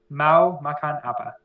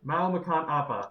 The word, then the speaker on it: Mau Makan Apa: As you just said, the person who made how do you pronounce it again? Mao Makan Appa. Mao Makan Appa.